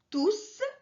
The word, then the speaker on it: tous: Du coup, tous est un pronom à la fin duquel le S est bien prononcé.